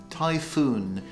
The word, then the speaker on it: typhoon: typhoon the pronunciation is typhoon the n at the end must be pronounced a typhoon a hurricane